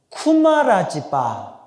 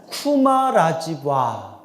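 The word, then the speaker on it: कुमारजीव: 어 인도하고 중국의 중간 지대에 인도 쪽으로 가는 길에 구자국이라는 나라에서 태어나셨는데 산스크리트 원래 발음으로 따라해 보세요. 쿠마라지바 쿠마라지바 비읍으로도 발음하고 이음으로도 발음해요. 쿠마라지바 쿠마라지바 그러니까 뭐로 발음한게 정확해요?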